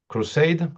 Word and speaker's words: crusade: You said the pronunciation is right. If not, let me know. Crusade, how you say this?